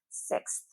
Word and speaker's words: sixth: So when consonants come really close together, they can be really tricky to get your tongue around to pronounce them correctly. So let's take a look. Sixth.